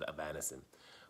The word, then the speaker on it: Avanesyan: I always, that's why I say it's Avanesyan. But, people pronounce it different ways.